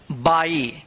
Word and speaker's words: by: तो देखिए यहां पे जैसे बी वाई, इसको क्या पढ़ेंगे, बाई। क्या पढ़ेंगे, बाई पढ़ते हैं, बाई, ठीक है।